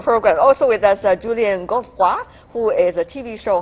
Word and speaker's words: Godefroy: Also with us, Julian Godefroy, who is a TV show host and also cellist.